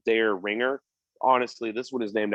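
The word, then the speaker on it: Dareringer: spelt like the pizza but um it's we pronounced like this one spelled dare ringer honestly this one is named after the biggest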